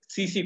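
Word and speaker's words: tsetse: एक फ्लाई होती है सीसी फ्लाई, क्या नाम उसका? सीसी फ्लाई। सीसी फ्लाई इंसानों को काटती है, इसको टीसी टीसी लिखते हैं, सीसी पढ़ते हैं, टी साइलेंट है, सीसी फ्लाई।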